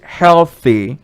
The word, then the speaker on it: healthy: healthy healthy healthy healthy remember that th sound at the end pull your mouth out so you say healthy healthy number two it's unhealthy